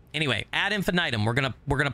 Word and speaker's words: Ad Infinitum: different pronunciations and we looked at the phonetic pronunciation this is actually how you say it I promise add infinitum right anyway add infinitum we're gonna we're going to play it tomorrow